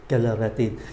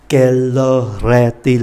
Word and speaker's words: Quelle heure est-il: "Quelle heure est-il", chúng ta có ba liên từ cho bốn từ này.